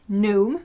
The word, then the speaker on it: gnome: us it's gnum but i know that in english it's gnome you don't yeah you don't pronounce the g okay so that's lake